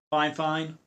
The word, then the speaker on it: FIFINE: So again, the brand is called fine fine, which is spelled f i f i ne.